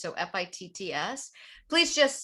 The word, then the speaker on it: Fitts: My name is spelled, one R, and Fitts, like your shoe fits with two T's. So Fitts.